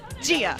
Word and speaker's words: Gia: Gia. Really say the J. Gia, like Chia Pet with a G.